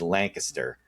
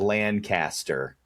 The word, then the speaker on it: Lancaster: But it's spelled Lancaster, but it's not. Correct. Nobody from that area pronounces it that way. It's No. Lancaster.